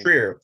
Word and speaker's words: Trier: Trier. Joachim Trier, like Lars von Trier.